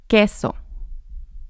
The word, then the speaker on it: queso: Queso queso. So here the Q makes the K sound and the U doesn't sound in this instance.